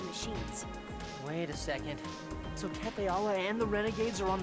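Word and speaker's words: Tethe'alla: Tetheala. I've got to remember that. And I'm sorry, I pronounced it wrong because I'm so used to saying Tethala.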